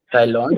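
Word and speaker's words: Thaïlande: क्योंकि फ्रेंच में एआई का pronunciation is what A right. उसको थाई बोलने के लिए लोग उसके ऊपर वो लगाते हैं 2 डॉट.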